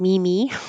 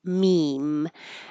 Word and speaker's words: meme: It looks like mimi or maymay, but it's just meme.